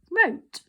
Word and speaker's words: wrote: and rank okay so remember the w comes before the r and when we say it aloud because you're going to practice saying these spellings allowed when you say it out loud we don't say i or wrote a sentence we say to say wrote okay then if you